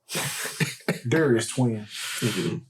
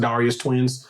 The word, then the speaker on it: Darius Twin: you should like it darus twin okay and also I'm pretty sure you are wri in the pronunciation is pronounced Darius twins for some reason Japan